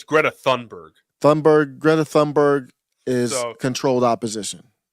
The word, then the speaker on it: Thunberg: It's supposed to be silent. It's Greta Thunberg.